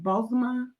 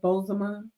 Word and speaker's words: Bozoma: you pronounce her name bosma you kind of forget the second o but you kind of say it bosma anyway so bosma tells